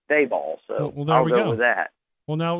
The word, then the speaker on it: Daboll: be corrected on that I was calling him the ball and somebody told me that it's b ball so with that well now we've already learned